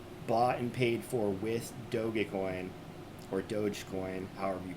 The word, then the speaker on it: Dogecoin: and paid for with dogecoin or dogecoin however you pronounce i pronounce it doga coin because doga is a japanese shiba inu and thus you need